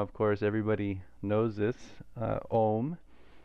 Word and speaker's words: oṃ: Om is not just two sounds. It's not o and it's three sounds, because within the o is a and u together.